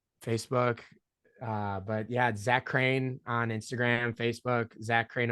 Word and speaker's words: Crean: I always have to tell people now it's pronounced crane for anybody that's confused or just doesn't because